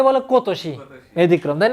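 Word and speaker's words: 今年: এই যে দেখেন, এটা আমরা এই কাঞ্জিটার উচ্চারণ কি শিখে আসছিলাম? ইমা। কিন্তু এখানে এটার উচ্চারণ কি? কো। এই জন্য এটা আলাদাভাবে পুরো লিখে দিছে। এটা ব্যতিক্রম, কোতোশি। কোতোশি মানে কি?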